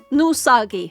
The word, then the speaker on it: Nousagi: my comments was like, "Why are you pronouncing it depressed Nagi instead of depressed no Usagi?" Because he pronounced it that way himself. He calls himself Nusagi.